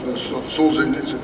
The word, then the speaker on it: Solzhenitsyn: It's a quote of Solzhenitsyn. Am I pronouncing that right?